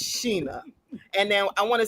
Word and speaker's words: Sheena: So you have to say, I want to say Shayna. It's Sheena.